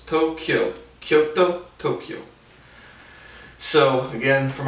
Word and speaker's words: Tokyo: those olympics at tokyo tokyo two syllables tokyo kyoto tokyo so again